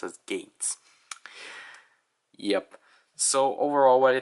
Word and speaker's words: Geiz: his name is spelled as gays but it's pronounced as gates yep so overall why they think about the